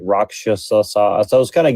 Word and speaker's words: rakshasa: And they call them like rakasha in like Sanskrit. They say it like rakshasa.